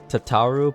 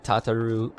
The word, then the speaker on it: Tataru: I know it's pronounced Tataru, but I've said Tataroo so many times that I'm just used to it.